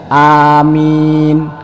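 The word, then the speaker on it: آمين: tiga kali ndak apa-apa yang penting bacanya bener Amin huruf alifnya panjang huruf mim nya panjang Jadi kalau ada orang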